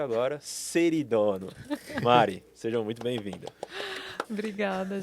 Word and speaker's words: Ceridono: Senhoras e senhores, Mariana, que eu aprendi a pronúncia agora, Seridono.